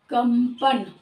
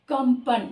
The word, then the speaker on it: कंपन: होता है ना, और इसका उच्चारण अगर हम एक शब्द लें, कंपन, कंपन शब्द ले लें, तो इसका प, फ, ब, भ और म, इसका पांचवा स्थान म आ रहा है। तो यानी प वर्ग का ओठ अगर उच्चारण स्थान है तो इस अनुस्वार का उच्चारण स्थान भी प, ये ओठ ही होगा। तो हम बोलकर देख ले, कंपन, अपने आप ही म की साउंड आ रही है, क्योंकि पांचवा इसका वर्ण म है, तो अपने आप ही